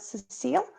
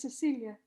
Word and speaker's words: Cecilia: sense to you sorry how am i pronouncing your name right cecile my name is cecilia cecilia so would you understand